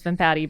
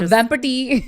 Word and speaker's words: Vempati: But Says the girl whose last name is Vimpati, but it's a Vempati. Oh. That's actually how you say it.